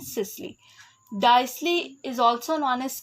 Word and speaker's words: systole: The word T remains silent and it is pronounced as diastole and systole.